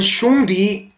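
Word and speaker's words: 兄弟: 중국 발음으로 형제를 발음하면 숑디 여기 국외음화에 의해서 지읒이 디귿으로 바뀌어서 이게 단음 처리되면 돼요. 복모음이 단음으로 숑디 이렇게 발음.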